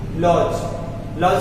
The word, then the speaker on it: lodge: लॉज का मतलब क्या होता है, छोटा सा घर, यानी कि देखिएगा LODGE, जहां जहां जी से पहले डी आएगा तो डी साइलेंट रहेगा, इसको आप माइंड रखिएगा।